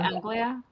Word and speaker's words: Anglia: I don't know how to pronounce that. Anglia. Anglia.